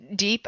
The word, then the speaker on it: Diep: I said Deep. I say Deep, but okay. No, I've been saying Diep the whole time.